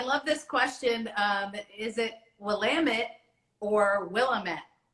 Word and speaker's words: Willamette: Is it Willamette or Willamette? It's Willamette, damn it.